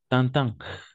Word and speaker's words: Tintin: prononcer comme ça d'accord Tintin sinon Tintin on va utiliser on va prononcer à chaque fois la combinaison i avec N comme un d'accord par exemple intérêt